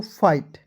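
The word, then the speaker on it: fight: एस टी आए दोस्तों, इसको उच्चारण आइट के रूप में करेंगे, ठीक है। तो हो गया दोस्तों फाइट, फाइट मीन्स क्या होता है दोस्तों, लड़ना, ठीक है।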